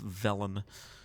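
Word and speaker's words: Velen: our leader Valen Valen villain I think it's I think it's technically pronounced vellum okay I went way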